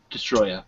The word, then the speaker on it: Destoroyah: We got Godzilla versus Space Godzilla and Godzilla versus Destoroyah. So there we go. It could also be pronounced Destroya. Just Destroyer, whatever.